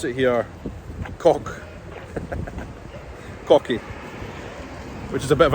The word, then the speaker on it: Koch: This place here, if I was reading that, I would say coch, but they pronounce it here cock, cocky, which is a bit of a rude word in English.